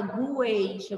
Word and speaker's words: gueixa: Já a palavra gueixa, você não fala gueixa, você fala gueixa. Aquele U, ele vai ficar mudo, porque ele está formando aí outra sílaba.